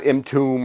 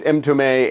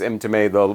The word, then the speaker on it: Mtume: So yeah, Mtume, and by the way, that is how you say that. It's not Mtume or something like. It's Mtume, and that's the last name of James Mtume, one of the lead guys here.